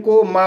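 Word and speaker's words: came: सी को का पढ़ा जाएगा, ए को ए पढ़ा जाएगा और एम को मा पढ़ा जाएगा और ई साइलेंट रहेगा।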